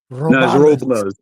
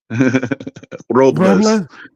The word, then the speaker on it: Robles: I got to make sure I pronounce it right. Robales. Robles. Oh, Robles? Yeah.